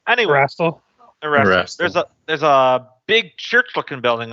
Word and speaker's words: Erastil: That's not how that Aristil. That's not how that's pronounced at all. Anyway, Erastil? Erastil.